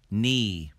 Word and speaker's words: knee: with silent letter k when the letters k n are together in the beginning of a word the k becomes silent we do not say knee we say knee knee knee neil neil